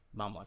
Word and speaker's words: Mamluk: Yeah, Mamluk. I just looked it up to make sure I was pronouncing it right.